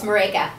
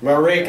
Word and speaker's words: Maryke: Maryke. Maryke. Yeah. Okay. It's okay. It rhymes with Jamaica.